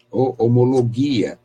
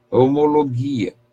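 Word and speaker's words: ὁμολογία: traduz o tema original homologia homologue a sendo a pronúncia grega homologue a é esta este termo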